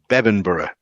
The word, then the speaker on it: Bebbanburgh: was Bamburgh, it was Bebbanburgh. Bebbanburgh, yes, Bebbanburgh. Bebbanburgh. Bebbanburgh. Bebbanburgh, yes. It looks like Berg, but it's Borough. Up here. Yeah, like Edinburgh. It's spelt the same way as Edinburgh.